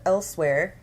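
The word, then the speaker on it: Elsweyr: They hail from the province of Elsewhere, and yes, that's how it's pronounced, but they are a feline race, and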